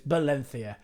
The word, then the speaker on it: Valencia: I know for a fact, having been there, you don't pronounce it Valencia. It's Balenthia. Balenthia. Balenthia. I was getting some frosty looks when I was pronouncing the the V and not the B.